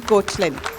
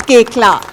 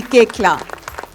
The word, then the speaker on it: Koechlin: So please help me in welcoming Kalki Koechlin. Kalki Koechla. It's pronounced Koechla. Kalki Koechla.